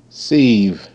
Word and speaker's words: sieve: Sieve. E is silent.